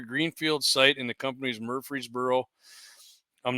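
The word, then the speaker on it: Murfreesboro: But uh so they're going to be constructing 170 acre greenfield site in the company's Murreey'sboro. I'm not pronouncing it wrong. It's Murreey'sboro.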